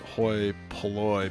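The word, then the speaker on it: hoi polloi: Um Hoy Poloy, pronounced Hoy Poloy.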